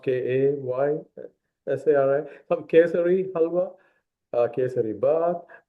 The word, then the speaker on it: Kesari: called Ravva halwa or Kesari. It's several names, right? Kesari, Kesari, or maybe pronounced Kaysari.